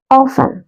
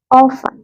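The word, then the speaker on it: often: silent ആണ് ഡറ്റ് okay ഇതെങ്ങനെ വായിക്കും ഓഫൻ ടി സൈലന്റ്ആ ഓഫൻ ഓഫൺ okay next word next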